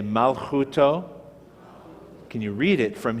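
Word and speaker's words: מלכותו: That's the mem with the the patach vowel. Ma, lamed is the L sound. Again, the silent shava makes this the first syllable. Malchu. This is the kaf again without the dot. The vav with the dot in the middle is the u sound. Chu, mal, chu, and the tav is the letter T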